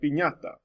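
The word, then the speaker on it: piñata: your end it changes the sound from an end from a normal end to this enya sound so you have words like senor like or the sort pinata or even words that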